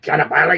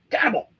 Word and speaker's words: Cannibal: It's not cannabal, you stupid white boys. It's cannibal. That's just how they spell it in Italy.